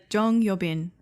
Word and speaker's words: Jeon Yeo-bin: Is that how you pronounce her real name? Her real name uh Jeon Yeo-bin.